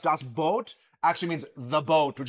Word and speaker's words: Das Boot: Das Boot, which is actually pronounced Das Boot, actually means the boat, which is spelled B-O-O-T.